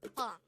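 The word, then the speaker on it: 빵: Again, it's pang. This is composed of just one syllable, which is pang itself.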